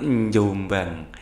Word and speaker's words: Jombang: dari jombang nah itu kalau orang jombang bacanya bukan jombang ya tapi njombang ya pak sidik berasal